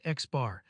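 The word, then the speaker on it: x̄: The letter used to represent the sample mean is an X with a bar over it pronounced Xbar. X, the Greek letter mu, pronounced mu, represents the population mean.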